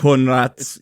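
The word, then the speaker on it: Coenraets: name right oh Jimmy conres yeah but it's pronounced the last name is conrat yeah it's like it's like sounds like conrat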